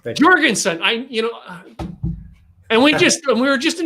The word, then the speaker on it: Jorgensen: It's Jorgensen. Jorgensen.